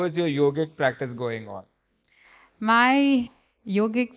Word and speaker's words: yog: Um, the thing is, yoga is yog actually. So people Correct. say yoga, but the A is silent.